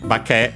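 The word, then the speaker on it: 化け: So uh bake on its own accent on the last syable so regular will mean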